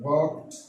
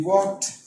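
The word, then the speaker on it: walked: वॉक्ड, ये वॉक्ड pronounce किया जाता है ईडी के साथ, के साथ। जब ईडी का इजाफा हो जाए, के साथ ईडी टी प्रोनाउंस होता है। टी का आवाज निकालना होगा।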